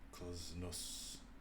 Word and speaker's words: CZNS: I asked this entity how to pronounce its name. Klznus.